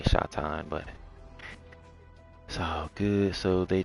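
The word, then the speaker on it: שטן: gonna scroll down, and in Hebrew it could be pronounced the same way, Satan or Satan or Shatan, and I say Shatan, but so good.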